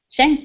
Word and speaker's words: Schenck: And I didn't even ask how the last name is pronounced. Schenck? Schenck, you got it.